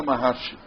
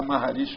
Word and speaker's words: Maharshi: Agora é Maharshi que escreve o negócio. Tem gente que às vezes gosta de pronunciar Ramana Maharshi. Mas o povo aqui gosta de falar Maharishi porque é mais lá no tipo hindu, né?